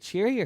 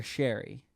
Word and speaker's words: Sheary: Wait, Sheary or Sherry? Sheary.